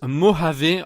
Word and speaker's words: Mojave: dernière petite précision ce nouvel os ça se prononce mojave en réalité et pas mot j'avais alors j'ai